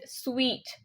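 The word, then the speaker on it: suite: UI t e and people still pronounce this one as suit also but that's incorrect the correct pronunciation is sweet sweet yeah they will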